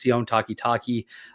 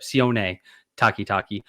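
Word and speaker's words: Sione Takitaki: One of the first guys I saw that popped to me um was Sion Takitaki. Uh a guy that most of you will probably remember from his um or sorry, Sion Takitaki.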